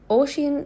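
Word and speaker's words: Oisín: Oisin is pronounced Oisin.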